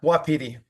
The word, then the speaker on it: Wapiti: The location for this proposal is 34 Rapidi. Is that how you pronounce it? Is that the Native American word for elk? Yeah, Wapiti. That's how I call it.